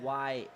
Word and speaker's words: Yared: Well, his name actually is Yared.